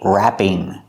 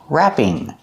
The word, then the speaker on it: wrapping: The W is silent. Make the sound wrap. Use a short A sound like black cat, wrap. Then plus ing, wrapping. Use a long E sound, wrapping.